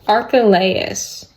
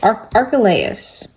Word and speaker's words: Archelaus: Archelaus. Okay, good effort, but not even close. Okay. Archelaus.